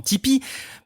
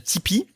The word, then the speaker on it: Tipeee: C'est ce qui se passe autour de la plateforme Tipeee.